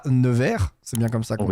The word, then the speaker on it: Nevers: tu es né un 17 mars 1992 à nevers c'est bien comme ça qu'on y prononce voilà puisque jean-françois bernard qui est lui-même